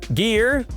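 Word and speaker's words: Gere: Gear that also rhymes with year has largely stayed away from action since then.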